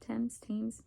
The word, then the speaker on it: Thames: I think it's pronounced like that, Thames.